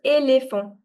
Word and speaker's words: éléphant: So this accent basically changes the sound of E to A. If the accent is there, the sound of E will change from to A. For instance, this will be pronounced as éléphant. This is marché.